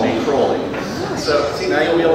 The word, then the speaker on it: Crowley: aliser cruy and by the way the proper pronunciation is cwy not Crowley do not listen to Aussie Osborne he is